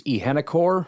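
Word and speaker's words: Iheanachor: Max Ihenekor, which I believe is how you pronounce it. I'm not positive. Wait. Arizona State's massive right tackle, pronounced Ihenachor. They have a chore.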